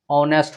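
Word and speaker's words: honest: बगल में जो रहेगा ऑनेस्ट, ऑनेस्ट होता है, हॉनेस्ट नहीं होता है।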